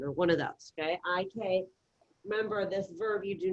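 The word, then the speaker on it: hay que: I think one was high K or something like. I-K. All right, that H is silent.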